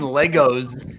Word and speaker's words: Lego: brick in the chat put the s in Legos is silent yes that's a great